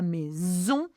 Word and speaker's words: maison: Donc, l'ambiance, again, same pronunciation as EN, the ambiance or the atmosphere à la maison, one S is a Z sound, n'est pas toujours simple.